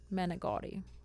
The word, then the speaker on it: manicotti: Manicotti. But you say you say manicotti. It's not like you're pronouncing an I.